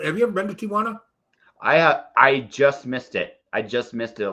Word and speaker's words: Tijuana: And it never, when I was 16 years old, I was in Tijuana, because all good stories start with when I was 16, I was in Tijuana.